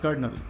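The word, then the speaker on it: colonel: हमें लगा देना है सी और ओ के बाद ये एल साइलेंट रहता है ट्स वई वी कॉल इट कर्नल अब आया सदी में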